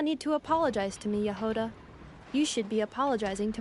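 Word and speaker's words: Jahoda: It's pronounced actually Yahoda, not Jehoda, said Tarina.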